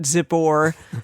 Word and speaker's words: Zippor: balik the son of zippor like zipper but zippor saw all that Israel